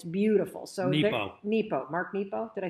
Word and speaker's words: Nepo: Mark Nero was fighting cancer when he wrote this. And it's beautiful. So Nepo.